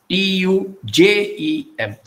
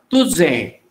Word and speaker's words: tuje: Konkani speakers don't say, if you put Z here, that pronunciation becomes Tuze, Tuze. We don't say Tuze, we say Tuje.